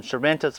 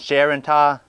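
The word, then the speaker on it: Charentais: melons I had grown I pronounced some Shas last year they're actually pronounced Sharon these guys are like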